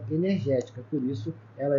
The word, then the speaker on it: energética: Nós temos aqui, ó, a antepenúltima é a sílaba tônica, é ela que é acentuada, tá legal? Ela é uma proparoxítona, por isso que ela recebe o acento.